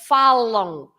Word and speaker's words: falam: So we don't pronounce that M as M, but falam. So imagine that there is an O there. It's a nasal on falam.